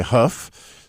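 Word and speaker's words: Kaf: which makes sense because it looks like it's spelled that way k-a-f but if you listen to many jewish people you'll hear him say huff so but you know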